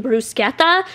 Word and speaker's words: bruschetta: for the table I chose bruschetta and I ordered it like that and the waiter was like you mean Bruce geta so I was so embarrassed everyone laughed at me cool so I'm never pronouncing it like that again and then we got